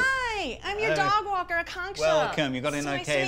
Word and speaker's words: Akanksha: Is it? Oh, it's pronounced Akanksha. Just think of a conch shell.